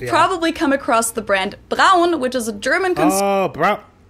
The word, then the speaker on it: Braun: we do in Germany, Braun or Brown with an American accent, which would have made sense because Braun is the German word for the color brown.